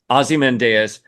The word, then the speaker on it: Ozymandias: Okay, I say Ozymandias. I say like osmosis in my head.